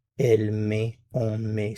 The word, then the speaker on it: met: Il met, elle met, on met. So, we have met, met, met. All pronounced the same.